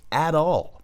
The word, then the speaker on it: at all: Só que você junta tudo na pronúncia mais norte-americana.